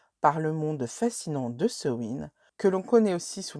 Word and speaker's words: Samhain: ce win vous pouvez alors au niveau de la prononciation je dis ce win parce que je le prononce à la galoise il s'agit d'un mot celtique qui nous vient normalement de la région du Pays de Galles mais vous pouvez vous dire sa main ou sawen franchement vous faites comme vous